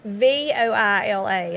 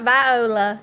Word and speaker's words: Voila: It's not Viola like some people See, I think. was thinking you were saying voila. Well, it's a lot of people pronounce it as voila. Yeah, I it's would like think French. a It's W.